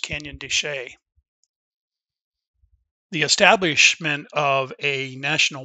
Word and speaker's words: Canyon de Chelly: think that it's pronounced canyon de chelly when in fact that is not the case it is actually pronounced canyon de shay the establishment of a